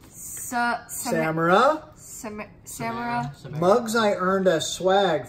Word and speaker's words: Samara: Samara.